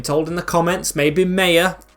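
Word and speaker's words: Maher: goal Otis Khan Jasper moon nalma it's actually pronounced Mar as well I have looked it up I've been told in the comments maybe Maya it's pronounced ma with Walsh and Glennon Clifton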